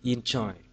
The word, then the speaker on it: enjoy: Như vậy trọng âm thì chúng ta sẽ xác định câu số 1 động từ enjoy, vậy trọng âm rơi bằng tiết thứ hai.